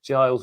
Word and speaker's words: Giles: It's just Giles Mail.